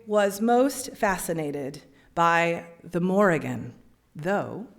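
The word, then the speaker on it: Morrígan: most fascinated by the Morgan though traditional gaic PR pronunciation which favors silent letters would address this goddess as the Moran she is the goddess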